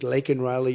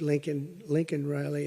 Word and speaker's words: Laken Riley: And after months of prodding him, Biden couldn't pronounce her name. He said Lincoln Riley, and Lincoln Riley is the football coach, or the coach.